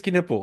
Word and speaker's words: Knueppel: game, we were like, "Okay, how do we pronounce this dude's last name?" Quiduple Caniple. Jason, no, it really is Keniple. I've I've watched like 80 he said it himself. Kippo.